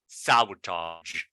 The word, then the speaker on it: sabotage: Now here we have sabotage at the end. It is a G sound.